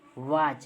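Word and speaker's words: watch: है मैच ठीक है वाच देखिए हम टी को नहीं पढ़ रहे हैं ठीक है डायरेक्ट वाच पढ़ रहे है ठीक है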